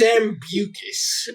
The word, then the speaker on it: Sambucus: And I think it's pronounced Sambucus. Oh, Ew. That's even worse. Is it? Sounds like snail mucus.